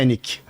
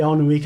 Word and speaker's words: Alnwick: Alnwick que se escreve, né? A pronúncia em inglês é Ennick. Eu falei Alnwick a vida inteira, cheguei lá e disse Ennick.